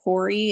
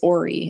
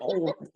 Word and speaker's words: Horry: yeah, see people pronounce it Hori. It's not. Oh, okay. It's Ori.